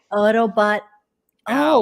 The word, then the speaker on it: Autobot Al: Wait a minute, that's a lowercase L at the end of my name. You guys have been saying it wrong the whole time. Oh, yeah. Autobot. Al. Oh, with Autobot Al, not Autobot AI, because that makes sense.